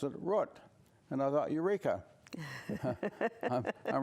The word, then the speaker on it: Root: last name yes my I grew up wrote I went to college the wrote went the law school Lister route but when I started practicing law in New York City why nobody could understand the name worked they were used to the word route so I had to do in Rome at the Romans do and tailor my pronunciation to wrote my children grew up